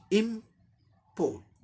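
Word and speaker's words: import: Are silent होगा क्योंकि आर के बाद कॉन्सोनेंट लेटर आ रहा है, इसका साउंड भी कॉन्सोनेंट ट साउंड आ रहा है, इसलिए आर साइलेंट हो जाएगा ब्रिटिश इंग्लिश प्रोनाउंसिएशन में।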